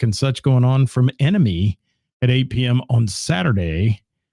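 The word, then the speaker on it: ENMY: band here all right Emmy enemy I'm sorry why did I say Emmy see I screwed it up already e nmy pronounced Enemy enemy and uh Dave Nester man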